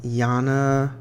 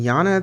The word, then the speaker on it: Yana: okay so the first one is another um jana how do you say this ladies name yana talon hicks it's on her website yana yana